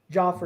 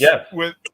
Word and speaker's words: Jeff: Joffrey. No, Jeff. You sure? Yeah, it's pronounced Jeff.